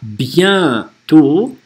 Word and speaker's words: bientôt: Tu reviens bientôt. Это N-осовая везде. Не reviens bien, а reviens bien. Только носом.